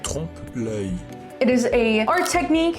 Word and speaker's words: trompe-l'œil: However, that is the term, and it is pronounced like trompe-l'œil.